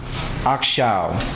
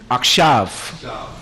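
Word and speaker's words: עכשיו: We have now, Akshaw. And you know what's funny? You know, a lot of Jews, they will say Akshav. They say Akshav, but it's spelled Ayin Kaf Shin Yod Waw.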